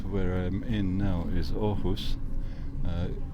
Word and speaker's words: Aarhus: I'm in now is ohus uh it's written arus but it's pronounced ohus and that's the second